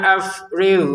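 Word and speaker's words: أَفْرِغْ: Rabbana afrigh alaina shobro. Rabbananya lima harakat afrig huruf gin ya, bukan huruf g bahasa Indonesia ini lebih halus ya.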